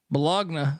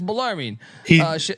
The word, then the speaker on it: Bellarmine: We got to talk about y'all pronouncing my alma mater, Bellarmine, as Bologna.